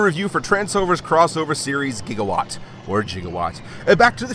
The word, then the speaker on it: gigawatt: in a try meet jigawatt uh technically it's pronounced gigawatt what did you just